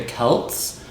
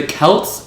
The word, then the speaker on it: Celts: And I thought you pronounced it the Celts, like the Celtics, like the Boston Celtics. I have no idea why they pronounce it that way with like an S instead of the C, because the Celts is pronounced like with a K sound, I think.